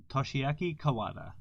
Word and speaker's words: Toshiaki Kawada: Did I pronounce that correctly? Kawada. Sorry? Toshiaki Kawada.